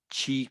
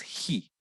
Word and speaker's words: chi: Otra manera de pronunciarlo a veces es ji. Yo estoy ya muy acostumbrado a decir chi, entonces la letra chi cuadrado.